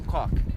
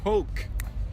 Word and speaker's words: Coke: Então, não peça um cock quando você for ao McDonald's. Coca é Coke. Coke, Coca-Cola, ou Coke.